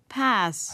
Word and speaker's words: pass: 오늘 발음 확인해 보고 pass, 할 수 있죠.